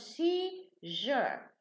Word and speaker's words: seizure: Okay, so when we add the ure, now the S, the pronunciation, changes into sha. So press becomes pressure in pronunciation. And seize becomes seizure. So the za changes to ja.